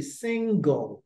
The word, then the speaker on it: single: En français, on va dire gl, n'est-ce pas? Gl. Mais en anglais, c'est pas gl. En anglais, le E vient avant le L dans la prononciation. Dans le parler, c'est single. Single.